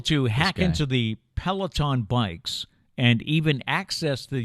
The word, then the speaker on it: Peloton: Our final story today is about the popular, am I saying it right, Peloton?